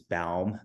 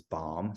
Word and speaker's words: Baum: a play off of my last name which is balm but everybody pronounces bomb so you know don't